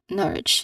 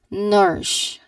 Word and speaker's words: nourish: But um people yes there are still some people um that can common mistakenly you know pronounce the word as nor. Norish. You say it as nourish.